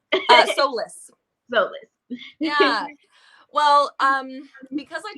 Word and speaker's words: Solis: Did I pronounce that right? Solis.